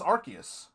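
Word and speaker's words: Arceus: that so it's archus I always thought it was arus allow me to introduce you to the Pokemon Legends archus game po all right well I've never been good at pronouncing anyway but apparently it's been it's archus all right Legends archus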